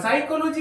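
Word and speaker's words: psychology: जीवा इसको हम लोग साइकोलॉजी नहीं पढ़ेंगे साइकोलॉजी य पर साइलेंट पी का प्रयोग एस के पहले हुआ है इसलिए इस प का उच्चारण नहीं करेंगे साइकोलॉजी पढ़ेंगे साइकोलॉजी इसका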